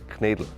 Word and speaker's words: Knödel: She's doing quite well with Knödel, but she doesn't pronounce it perfectly yet because it's called Knädel.